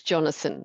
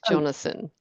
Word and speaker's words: Jonasson: years and uh yes you um am I pronouncing your surname correctly close enough it's actually quite fanatic it's Jonathan so pick Jonathan Jonathan okay well that's easy okay so I